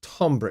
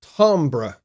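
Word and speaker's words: timbre: check that word tomra it's a French word uh you guys in the United States spell it wrong you spell it as t i m b r which is Timber no it's tomra t i m b r e it's French tomra all right so uh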